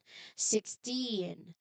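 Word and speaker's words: sixteen: So 6 + 10 the the strongest part here is the end which is 10. 16.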